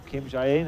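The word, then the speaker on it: 김자인: Xining Kim, or Kim Jae-in as it's pronounced over here in Asia, taking the top spot.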